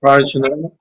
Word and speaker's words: Parachinar: So I don't know how to say it. Para. I'm from Parachinar.